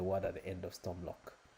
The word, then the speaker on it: Stormloch: at the end of Stormlock. It's meant to be storm lock. So it's lock. You don't pronounce the K.